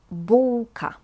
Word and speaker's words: bułka: A bun is bułka. Bułka. This L with this funny thing is pronounced as English W.